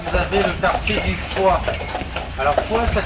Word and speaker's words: Foix: Ici, sur votre droite, vous avez le quartier du Foix. Alors Foix, ça s'écrit F-O-I-X.